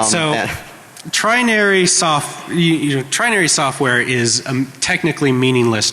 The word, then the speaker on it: Trinary: It's TRINARY, trinary, like 3 naries. All right, so trinary software is a technically